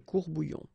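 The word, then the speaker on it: courts-bouillons: S, S. You don't pronounce it, des courbouillons.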